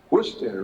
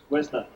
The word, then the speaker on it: Worcester: Worcester, right? Worcester. Worcester, see? I gotta say it right.